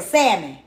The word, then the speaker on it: salmon: What I The L is silent. Is the L silent? Okay. So, salmon.